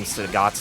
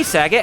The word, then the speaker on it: Sagat: the Street Fighter collab always kept mispronouncing Sagat's name wrong. They're always calling him Sagat. Yeah. He's not Bob Saget. Saget. Hey Sagat, how you doing, man? It's Sagat.